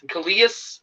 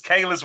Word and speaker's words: Kalias: tonight we have Khalil how do you say coleus I know you can go messing up I knew it how you say his name it's Kaylas Robertson Kaylas Robinson uh he went to Alabama